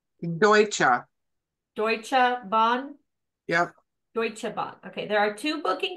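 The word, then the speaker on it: Deutsche Bahn: amenities so how what's it how is it pronounced deuta deuta Bond yeah deutche Bond okay there are two booking class available on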